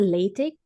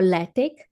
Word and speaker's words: LaTeX: LaTeX generally as a LaTeX or LaTeX. Different people call it different ways.